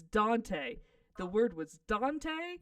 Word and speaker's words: Dante: They're like, I live next to Dente. I'm like, the fuck is Dente? You know, by the Dente Mountain. What? Could you spell that for me? Cause I get a vowel. And it's Dante.